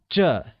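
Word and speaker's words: 这: same this translates as J and is pronounced with a falling tone also recall that from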